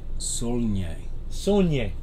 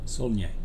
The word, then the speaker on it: Saulnier: Saulnier. Saulnier. There you go. Yeah. I know how to spell it, but I'm not sure I knew how to say it.